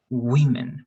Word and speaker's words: women: one was okay but remember one woman to women more like e all right women and